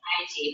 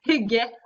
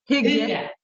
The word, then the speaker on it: hygge: I was saying Haiti, but I think it's pronounced Huga. Hygge. Hygge.